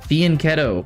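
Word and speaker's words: fianchetto: Fianetto is how you pronounce it.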